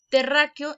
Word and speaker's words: Terráqueo: Por lo tanto, es una palabra esdrújula y todas llevan acento.